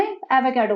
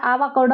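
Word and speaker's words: avocado: अब इसमें एवोकाडो पे, फ्रेंड्स एवोकाडो एवोकाडो को तो बोलना नहीं आ रहा, आवाकाडो आवाकाडो करने में लगी हुई है कुछ तो, गलत प्रोनाउंस करती है।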